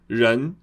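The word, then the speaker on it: 人: Cuidado com esse R aqui.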